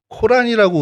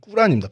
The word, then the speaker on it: 꾸란: 어 이유가 이유가 뭐냐면 교회도 있고 모습 있는게 뭐냐면 엘리야는 어 코란이라고 우리 요즘 우리는 어렸을 때 그렇게 배웠는데 코란이라고 그러는 이제 이슬람 사람들이 싫어합니다. 제 정확한 발음이 꾸란입니다. 꾸란.이 이 꾸란 37장 123절에서 132절에 어 내용이 이런 얘기가 있어요.